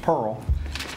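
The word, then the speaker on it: PIRHL: This company, is spelled P-I-R-H-L, but it's pronounced Pearl.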